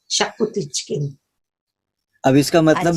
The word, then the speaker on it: Xacuti: मुझे अच्छा लगता है शाकुती चिकन। अब इसका मतलब भी बता दीजिए। ये एक गोवन डिश है, chicken, it's spelled XACUTI, but it's pronounced शाकुती chicken.